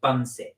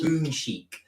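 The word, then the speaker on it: Bunsik: it's spelled bu NS i k we were pronouncing it bnip but it's actually apparently pronounced bonic so boic is a very famous Korean dog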